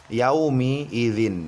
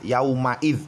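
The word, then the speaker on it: يومئذ: Jelas sekali di sini berharokat kasroh sahabat Quran. Hati-hati jangan sampai salah baca, jangan sampai salah baca kita membacanya fathah yauma idz, tidak ya sahabat Quran, tetapi harus dibaca sesuai dengan harokat yang tertera di sini.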